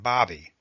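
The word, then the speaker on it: Baby: When Ned Buntline introduced himself, I replied, "Sir, my name is Bobby. The name may be spelled B-A-B-Y, but it is pronounced Bobby, as in hobby.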